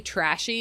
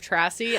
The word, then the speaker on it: Trassy: the name wrong or call me trashy instead of trassy I'm definitely going to